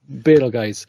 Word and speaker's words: Betelgeuse: Yeah, Betelgeuse. Yeah. That's how it's pronounced as the star.